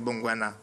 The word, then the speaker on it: Bengono: Je dis, je m'appelle Bengono. Ça, c'est comme on dit, c'est du centre. La prononciation, hein, c'est Bongwana, comme on dit là, chez nous.